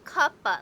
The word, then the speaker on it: Kuppa: It's not Kuppa. It's Kuppa, like cup of coffee, cup of tea, cup, like a cup that you drink.